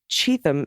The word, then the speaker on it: Cheatham: Though the county is pronounced like Cheatham, as in when donors send money to Trump, he is guaranteed to cheat him.